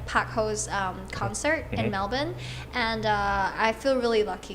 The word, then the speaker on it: Melbourne: people pronounce it Melbourne but it's actually Melbourne.